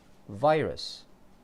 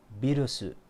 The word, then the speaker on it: virus: English, virus. Japanese, birusu. Very different.